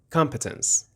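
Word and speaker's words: competence: بگیریم کلمه کامپتنس هستش اول به تلفظش دقت کنین اس اس رو همون بخش اول کلمهست میگم کامپ کامپتنس حالا به چه معنیه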